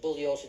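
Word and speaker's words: Bugliosi: my name is pronounced bullos the g is silent I told you this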